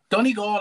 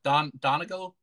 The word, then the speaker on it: Donegal: Or you call it Donegal? No, it's Donegal.